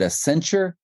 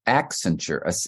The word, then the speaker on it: Accenture: But that to me was just very stumbly um accent accenture. And they they told kind of competing stories. It's about an ascent even though it spelled like accent.